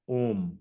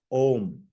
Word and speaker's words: Om: is the utterance of om om has three syllables a u and M or Ma so it is composed of three sounds and that combination of the three sounds is called om and uh the contrast